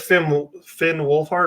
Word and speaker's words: Finn Wolfhard: And I think that Finn Wolfhard, right?